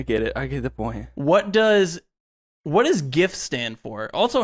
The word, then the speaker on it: GIF: What does GIF stand for? Also, how do you pronounce GIF? Do you say GIF or JIF? Yeah. It's GIF. Yeah, it's for sure GIF.